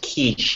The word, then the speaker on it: quiche: It's pronounced quiche, actually. I don't think so.